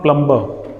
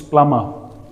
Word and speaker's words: plumber: It's not plumber, it's plumber.